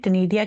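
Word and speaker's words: Ctenidia: Snail की जो gills हैं कोम लाइक गिल्स होते हैं जिन्हें टनेडिया कहते हैं। क्या कहते हैं? टनेडिया सी साइलेंट है यहां पे।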